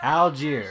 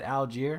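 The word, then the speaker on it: Allgeier: Okay, how you pronounce his damn name? Algier. Okay. I wasn't that bad. Algier.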